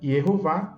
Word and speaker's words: Yehová: Ora, se eu sei que o tetragrama é YH, WH, e as vogais são E ou A, então a pronúncia do nome dá para saber que é Yehová.